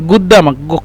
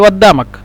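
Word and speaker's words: قدامك: এখানে বলে কুদ্দামক মানে গুদ্দামাক কফকে সৌদিরা গাইন বলে আর মিশরীরা কফকে হামজা বলে আমরা মিশরী ভাষায় বলি গুদ্দামাক আমরা মিশরী ভাষায় বলি অদ্দামাক আমরা মিশরীরা অদ্দামাক বলি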